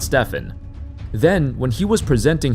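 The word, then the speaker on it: Stephen: more ways than you can count First Harrison pronounced his name as Stefan not Stefan then when he was presenting his PowerPoint presentation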